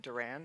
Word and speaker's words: Durand: Freedom Omid scoby's book co-written with Carol and Durand I hope I pronounced Duran right correct that's good okay um